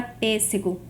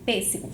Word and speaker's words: pêssego: Se eu sei que a minha antepenúltima sílaba é mais forte, eu sei que eu estou diante de uma proparoxítona.